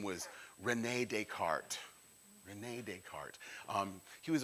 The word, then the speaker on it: Descartes: probably seen his name de SC AR te s is the way he spells his name though those French and their silent letters rene descartes now he